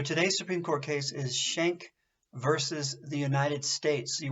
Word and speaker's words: Schenck: Supreme Court case is Schank versus the United States you want to put that at the top of your page Schank is spelled SCH e and c K versus the United States so